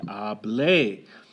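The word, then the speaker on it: hablé: to say I spoke you would say ah bleh now you have to stress the end there lay otherwise it's a command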